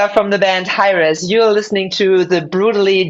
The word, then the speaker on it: Hiraes: from the past yes how do you pronounce this name hrus okay so for those